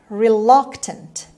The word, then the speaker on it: reluctant: cheese word number 11 reluctant reluctant reluctant the stress is on the second syllable it's on le sound reluctant example a it